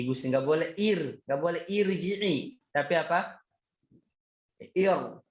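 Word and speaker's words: ارْجِعِي: Nah, kata irji'i di sini bacanya nggak boleh ar, tapi apa? Ir.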